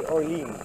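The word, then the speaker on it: Orléans: That they pronounce it really Olean. Olean. But of course, we pronounce it the American way, Orleans.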